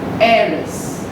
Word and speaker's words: heiress: Now H is silent here. Air. Air becomes heiress.